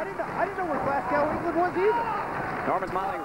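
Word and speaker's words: Glasgow: high school I didn't I didn't know where glasow England was either Norman Miley reaching for the tag not enough momentum behind him actually should pronounce it glass go if you take GL C around these people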